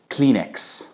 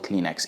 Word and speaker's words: Kleenex: Number one, Kleenex. Of course, Egyptians do not pronounce it Kleenex. They pronounce it Kleenex.